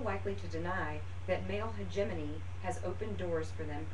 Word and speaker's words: hegemony: the list with the word hegemony and the pronunciation of that word is hegemony like gy Cricket so if you'll go to